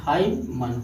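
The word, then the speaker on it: hymn: इसे हाइमन, यम यन साथ में है तो यन साइलेंट हो जाएगा, इसे हाइमन हो जाएगा। ओ साइलेंट नहीं होता है, ओ साइलेंट नहीं होता है।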